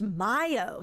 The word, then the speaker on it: MiO: Oh, it's pronounced Mayo, says Iron Patriot. Thank you, because I've been out here saying Mio this whole time.